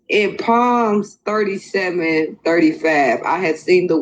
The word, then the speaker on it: Psalms: Y'all want to hear her incorrectly call Psalms palms and listen to her ignorant fellow friend have to correct her and let her know that it's Psalms and not palms, and then listen to her justify her calling it palms because it's a P on the beginning.